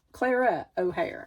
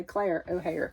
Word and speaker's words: Clara O'Hare: Now, the next work in progress I have is Claire O'Hare. Clara O'Hare. I I keep wanting to say Claire O'Hare just because it rhymes.